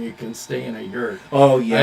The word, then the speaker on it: yurt: can stay in a yurt. Oh, yeah. I said anything that rhymes with hurt. Yeah. A It's yurt. not for me. And what's on the menu tonight? Fresh yak in the yurt?